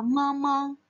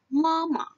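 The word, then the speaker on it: 妈妈: 吃妈妈 Nah, ini cara bacanya ingat ya, di belakangnya itu adalah qingsheng. Jadi kita tidak baca mama, kita bacanya adalah mama. Mama. Mama. Jadi mama. Jadi belakangnya itu lebih seperti ditarik, teman-teman.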